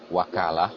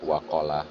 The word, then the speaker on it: wakalah: di dalam pengucapan e termasuk wakalah ya tadi dibaca waqalah kan beda waqalah dengan wakalah ya ini memang e kesulitan